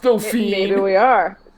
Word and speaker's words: Dauphine: Dauphine. Are we I'm going to Dauphine. I We're do going to- remember that. That's to throw off our listeners. Now they think we're going to Dauphin. It's pronounced Dauphine.